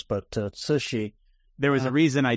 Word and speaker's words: Cixi: The Empress Dowager, whose name was Cixi, it's a hard name to pronounce, but Cixi.